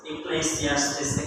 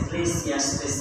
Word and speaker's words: Ecclesiastes: Ecclesiastes, Ecclesiastes, Ecclesiastes, Ecclesiastes.